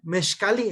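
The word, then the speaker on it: mezcalli: Sí, mezcali es en el náhuatl donde se pronuncia mezcali y que se pasa el español a mezcal.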